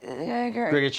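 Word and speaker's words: Grgich: How do I pronounce that? Grigich Hills. Grigich Hills.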